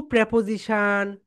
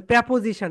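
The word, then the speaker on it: preposition: এর, এর আগে টু প্রেপোজিশন বসে না। টু প্রেপোজিশন, প্রেপোজিশন, right প্রোনাউন্সিয়েশন প্রেপোজিশন, নট প্রিপোজিশন। প্রিপোজিশন না আপু, প্রেপোজিশন।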